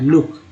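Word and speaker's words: look: L double O के लुक में double O का उच्चारण क्या हो रहा है, ऊ हो रहा है, लुक।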